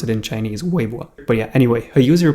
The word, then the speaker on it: Weibo: So a user on Weibo, I think that's how you pronounce it in Chinese, Weibo.